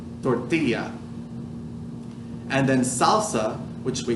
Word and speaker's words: tortilla: You probably already knew it's pronounced tortilla, but the double L in English would make a L sound. But in Spanish, it's a Y sound. Y, tortilla.